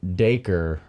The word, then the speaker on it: Dacre: I think we learned a valuable lesson here today, everyone, and it's that Dacre rhymes with faker.